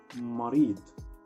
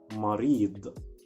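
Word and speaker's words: مريض: But don't forget, try to pronounce the letter D heavy.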